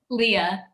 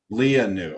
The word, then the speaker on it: Lea Neu: We're joined by Lea Neu. Is that correct pronunciation? Leah. Lea Neu.